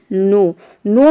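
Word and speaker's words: know: For example नो में आप देख रहे हैं कि के बाद एन आ रहा है, या फिर के और एन एक साथ आ रहा है, तो यहाँ पे केवल हम एन को प्रोनाउंस करते हैं, तभी इसका प्रोनाउंसिएशन होता है NOW, नो मतलब होता है जानना।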